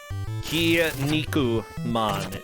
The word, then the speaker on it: Kinnikuman: Kinnikuman apparently is the way that you would say it, but whatever.